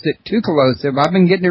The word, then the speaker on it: Tsoukalos: It's that T and S together thing, like what's the Chinese beer? Tao? So it's got that sound to it. The TS is Tsoukalos.